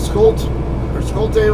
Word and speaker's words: Schulte: I call it Schulte Road, Schulte, whatever, because SCH tends to be pronounced sk, like school. SCHOOL. It's pronounced school, not school, or not shul.